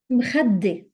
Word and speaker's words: مخدة: تخت تخت pillow مخدة مخدة. Make sure that you're doubling the dal.